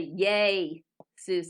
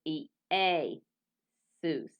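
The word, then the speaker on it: Ἰησοῦς: And this is not a diphthong because it makes two separate sounds like E-A, Seuss. A lot of people want to say yay, Seuss. And I thought it was that for the longest time before I taught myself Greek, Y-A-Y, yay, Seuss. But it is E-A, Seuss.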